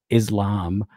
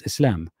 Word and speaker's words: Islam: I'm not going to say Islam to appease people. It's Islam. And sometimes I might accidentally code switch and say Islam, but I say Islam because that's how it sounds like in Arabic.